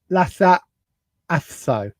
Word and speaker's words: Lhasa Apso: Lhasa Apso.